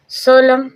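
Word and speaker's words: solemn: सोलम सोलम means सोलम। सोलम means गंभीर। यहां पर हम देख रहे हैं एम के बाद एन आया है। साइलेंट रहेगा। कोई साउंड नहीं रहेगा।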